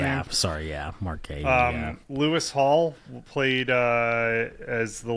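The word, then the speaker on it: Guéhi: I think Kyle Walker started at center back, flanking Mark Gahey. I think is how you say his last name. Yeah, sorry, Mark Gahey.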